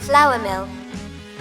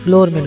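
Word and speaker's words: flour mill: फला मिक फला Mick फ्लावर मिल जी तो फ्लावर फ्लावर फ्लावर इसको यह कहना बिल्कुल दुरुस्त होगा जबक फ्लोर मिल कना गलत है तो चलिए इसके बाद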